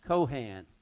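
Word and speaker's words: כהן: conversant with the jewish faith and tradition it's cohan sometimes it's spelled with the c instead of the k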